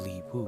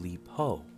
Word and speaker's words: Li Po: Or how about Li Pu, the famous Taoist poet? Oh, you mean Li Po, I said.